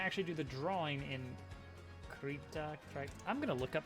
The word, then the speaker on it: Krita: So we're gonna actually do the drawing in Krita. I'm gonna look up how you pronounce that. How do you pronounce it? Let's see here. Okay, the devs say Krita. There you go. It is officially Krita.